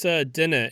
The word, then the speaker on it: dinnae: It's dinna. It's the DINNAE. Oh, they did both.